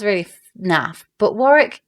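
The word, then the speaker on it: Warrick: sounds really na but Warick kind of rhymes with Garrick I was supposed to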